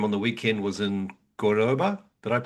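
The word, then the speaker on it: Córdoba: I mean, you can see, I think the game on the weekend was in Cordoba. Did I Yeah, pronounce that right?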